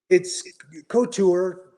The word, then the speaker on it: Couture: You want to go to France and try and pronounce it in a French way, but couture is usually how most people in our country say it.